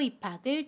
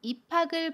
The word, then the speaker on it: 입학을: 받침 기역 뒤에 모음이 오면 그 받침은 모음 자리로 이동해서 발음해요. 연음이라고 합니다. 그래서 입학을 이라고 발음해요. 입학을.